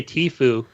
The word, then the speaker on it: Tfue: I just say Tifu.